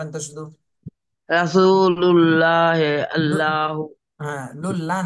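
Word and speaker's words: الله: আল্লাহু মাশাল্লাহ সুন্দর হয়েছে তাহলে আল্লাহ শব্দ এভাবে মোটা করে পড়তে হয় যদি আল্লাহর শব্দ ডানে জবর অথবা পেশ থাকে তাহলে মোটা করতে হবে আল্লাহু আল্লাহু রাসুলুল্লাহি ল ল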